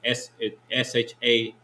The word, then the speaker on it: Shammai: Now the pronunciation. The pronunciation is Shami. Right. That's how you would pronounce it, translated from English to Lashawan Qadash.